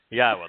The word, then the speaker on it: Yahowah: Yahowah, the proper pronunciation of the name of Eloah, God, as directed in his Torah teaching regarding his Haya existence and our Shalom restoration. If you can say Eloah, Torah, Shalom, and Haya, then you can pronounce God's name.